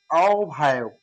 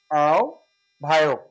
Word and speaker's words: আহ্বায়ক: অর্থাৎ আহ্বায়ক, আ ভা ওক, আহ্বায়ক, এটা হচ্ছে সঠিক উচ্চারণ।